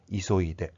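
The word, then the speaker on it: 急いで: 반드시 타금이 있다는 것을 발음을 해 주셔야 됩니다. 사와이데, 이소이데.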